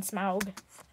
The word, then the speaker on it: Smaug: Please don't call him Smog. I mean Smaug. Oh, some people pronounce it that way. It's incorrect. It's because of that stupid movie.